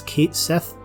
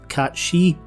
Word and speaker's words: Cait Sith: despite my Scottish accent, I'll be pronouncing the robotic feline's name as Kate Sith, rather than the etymologically correct Cat She, simply because that's how Reeve says it in Dirge of Cerberus.